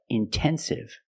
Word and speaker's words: intensive: Or words like intensive, intoxicated. We have the stress after the NT. We pronounce the T like a pure T.